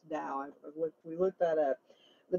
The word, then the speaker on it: Tao: But he's talking about how it says the Tao, or the Tao, excuse me, it's pronounced Tao.